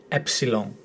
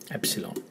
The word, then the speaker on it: epsilon: The easy way to remember the pronunciation, pepsilon, and you don't start with the P and you don't end with the G, epsilon, epsilon.